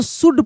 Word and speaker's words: SHOULD: एल के बाद क्या है? डी है, तो एल साइलेंट हो जाएगा, जिसको हम लोग शुद्ध पढ़ते हैं।